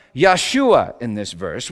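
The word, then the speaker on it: ישועה: Hebrew salvation is pronounced yahshua in this verse which sounds just like the name Yeshua which literally means god is salvation in English you know it's pronounced Jesus Isaiah 52 7.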